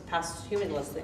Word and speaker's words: posthumously: So, when you think about it, we have our Values Award Luncheon, and when we honored Ralph Wilson, as our community impact posthumously, I can never say that word, how do you say that word?